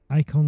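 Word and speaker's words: Eikon: was kind of um a phoenix icon I think is the correct pronunciation and and then you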